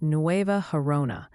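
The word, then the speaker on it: Nueva Gerona: say that sure thing it's pronounced NOA harona the NOA part is pretty straightforward like new with a VA at the end the harona has a soft H sound like an English H in hello give it a try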